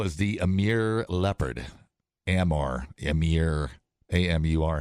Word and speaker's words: Amur: A-M-U-R. How do you pronounce that? Amur.